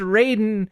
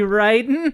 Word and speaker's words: Raiden: but pronounced or no is his name is pronounced Raiden when it should be Riden yeah that's true Chinese ninjas what else can